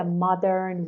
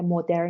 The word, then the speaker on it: modern: ببین چیز دیگه تایتل این یونیت The Modern World. پس حواست باشه که مدرن نیست modern و حواست باشه که آر توی انگلیسی تلفظش اینطوریه که زبونت میچرخه.